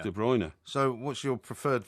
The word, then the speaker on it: De Bruyne: And also people have started to call him de Brun as opposed to de Bruiner. De Bruyne.